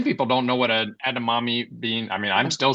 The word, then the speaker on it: edamame: and it's uh just think of mommy mommy think of your mommy a mommy and a mommy